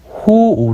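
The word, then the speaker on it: 好惡: 한다는 것이니 여기서는 바로 호오 를 신 한다는 것이죠 호오 5 아까 앞에서 봤었죠 이때 오라고 읽어야 되고 싫어하다 좋아하고 시나 다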